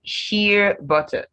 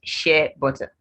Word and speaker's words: shea butter: Then sheer butter, not shea butter. Not there are several ways people pronounce this word. So sheer butter.